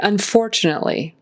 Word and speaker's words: unfortunately: car and drive home the word unfortunately the emphasis is on that second syllable unfortunately unfortunately make sure you get the T in there we don't want to say unfortunately that's not really a word so there's got to be a t in there un unfortunately it's a really kind of a quick stop of a te it's